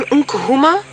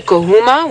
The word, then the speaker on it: Nkuhuma: If you just say Nkuhuma without the n sound at the beginning, it means to enter a doorway or to enter.